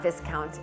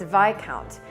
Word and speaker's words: Viscount: on his credit card, it said this word, Viscount. So I said to him, why does your credit card say Viscount? And he looked at me slightly in horror and said, it's not Viscount, it's Viscount.